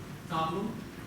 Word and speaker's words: Tableau: Tableau Is actually, Tableau is a French word. It's Same as the the French word equivalent.